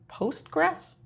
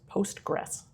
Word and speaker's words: Postgres: What is Postgress?